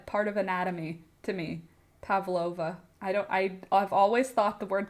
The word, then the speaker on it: Pavlova: It's pronounced with a V to Google. So, Pavlova. Pavlova.